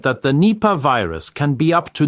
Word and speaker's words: Nipah: The thing is called Nipah. I'll spell it out. November, India, Papa, Alpha, Hotel, Nipah virus.